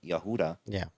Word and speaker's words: Yehuda: So when you break down history, the real Jews from Yehuda were what color? Oh, I'm sorry. Say that again. The real Jews from Judah, or the correct pronunciation, like Yehuda, were what color?